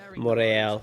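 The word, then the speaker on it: Montréal: So it's that's actually how you pronounce Montreal. It's Montreal, right?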